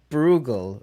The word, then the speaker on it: Bruegel: Bruegel being Pieter Bruegel. Bruegel is the Dutch pronounce it, I think it is. He's we talked about him